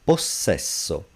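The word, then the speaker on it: possesso: So a simple syllable s vowel when it's double think of the word possession we would say and we do say posesso because it's double the only sound would be when it's followed by a voiceless letter stat when it follows a consonant.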